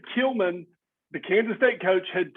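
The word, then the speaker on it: Klieman: you say his name is it killman killman all right killman the Kansas State coach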